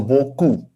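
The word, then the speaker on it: beaucoup: And then this uh pattern, o u this combination of letters is pronounced as u, like in soup, okay, in English, the u sound. So this e a u becomes o, o u becomes u, the last p consonant, it is supposed to be not pronounced. So this is gone, this is o, this is u, and this is c. So buku.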